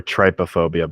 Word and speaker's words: trypophobia: Trypophobia or trypophobia, but I believe you pronounce it's TRYPO phobia. And I believe it's pronounced trypophobia. The Y makes the short I sound there.